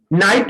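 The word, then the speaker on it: knight: नाइट माने ये योद्धा होता है, देखो इसमें भी के को साइलेंट कर दिया गया है।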